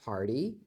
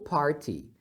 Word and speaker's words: party: festa aqui a festa você pode pronunciar Party com esse T com som de R ou Party sem problemas is partyy quando você